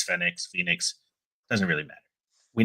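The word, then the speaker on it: Fénix: I know a couple people were like, "Oh, everyone's saying his name wrong. It's Fenix.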